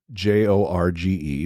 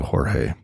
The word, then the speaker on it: Jorge: So, George, your name is spelled Jorge, which to some folks around here, not myself, but Troy believed it was Jorge.